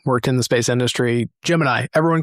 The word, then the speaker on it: Gemini: But I guess it is historically accurate if they were pronouncing it Jiminy. I hate to say it, but yeah, if you go back and look at them back then, the they're they're saying Jiminy.